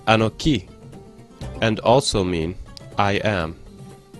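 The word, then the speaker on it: אנכי: We find the letters Aleph, Nun, Kaf, which are pronounced Anoki, and also mean I am.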